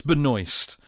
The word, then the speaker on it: Benoist: It's Benoist. Which, Benoist. The only problem with saying Melissa Benoist is, what do you think of? Noice. I wasn't going to say that. I was going to say that it rhymed with moist, which isn't let's isn't not go as there.